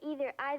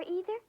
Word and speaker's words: either: But some people say either. Can you say either, or either? Either, or either.